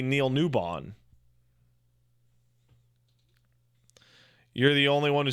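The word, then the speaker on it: Neil Newbon: Neil nuan's name correctly apparently tons of people say Neil nubin or some but it's like NE WB n that's clearly Neil newon you're the only one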